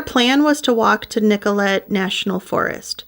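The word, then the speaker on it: Nicolet: was to walk to Nicollet National Forest that could be nicolay I've heard it pronounced both ways this is where they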